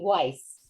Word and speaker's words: Weiss: But my last name, I pronounce it here in New Jersey, Weiss, just so Why?